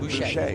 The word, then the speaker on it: Boucher: He said Boucher, because we have another one races with us, spells it the same way, and it's Booker.